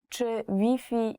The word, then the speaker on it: Wi-Fi: were not understand you so you have to change the Wi-Fi pronunciation even though the word is the same the spelling is the same you have to change Wi-Fi to V V so if you're looking